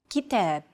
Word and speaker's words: kitab: rhythm of stressed syllables notice that the second syllable is stressed it's pronounced longer and louder while the first and final syllables are shortened kitab if you think about it